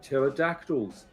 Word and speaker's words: pterodactyl: were flying ones called pterodactyls do you know why you can't hear a pterodactyl go to the toilet he looks around no where is that cuz the PE is silent I I learned that